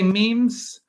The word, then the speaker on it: memes: how to say it it should be pronounced to rhyme with cream dawkins defined memes as ideas that spread